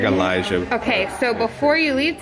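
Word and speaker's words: Alijh: do you spell it a-l-i-j-h it's like elijah okay so before you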